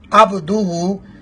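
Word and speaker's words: عَبْدُهُ: اور ایک اور غلطی یہاں پر عبدہ میں عین کو واضح نہیں کیا جاتا. عین کا مخرج بھی ہا کی طرح حلق کا درمیانہ حصہ ہے عبدہ, نہ کہ عبدہ. عبدہ پڑھے تو اس یعنی لفظ پر غور کریں کہ عبدہ عین کے ساتھ ہے, اور لوگ جو پڑھتے ہیں وہ الف کے ساتھ پڑھتے ہیں یا حمزہ کے ساتھ پڑھتے ہیں عبدہ, جو کہ غلط ہے.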